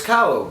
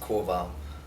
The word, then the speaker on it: Kowal: hathon California and we're here with uh Marcus cow how are you it's uh actually pronounced Koval I have figured uh you would know that